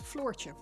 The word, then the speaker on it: Floortje: So it's floor, as in the ground you walk on, just pronounced with a slightly sharper, I guess, than if you were to say floor. It's, yeah, floor with an ch at the end, Floortje.